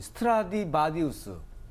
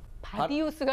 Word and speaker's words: 스트라디바리우스: 특히 이제 그 악기 중에서 이 스트라디바리우스, 바디우스가 아니라 바리우스. 바리우스.